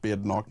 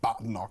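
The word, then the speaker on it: Badenoch: Thanks everyone who's been in touch, including uh one person who says, "Thank you for pointing out that bait knock is pronounced bednock, not bat knock."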